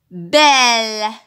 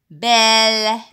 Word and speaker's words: belle: Belle. Belle. Est-ce que vous entendez le son E? Oui, très bien. On entend le son E. Pourquoi? Parce que c'est écrit E devant une consonne, bien deux consonnes.